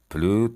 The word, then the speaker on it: plus: Je t'appellerai plus tard بعدن میشه plus tard. اسش هم به هیچ وجه تلفظ نمیشه. plus tard.